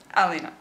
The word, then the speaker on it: Alina: Alina, not Lena.